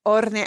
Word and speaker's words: hornear: No es cocinar, es hornear, hornear. Y no se pronuncia la H. We don't pronounce the H in that. Es hornear.